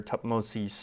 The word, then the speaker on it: Thutmose: I think it was Thutmose, or Thutmosis is sometimes how it's said, the third.